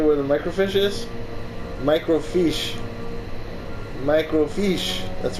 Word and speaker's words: microfiche: Microfiche. That's right. That's how it's pronounced.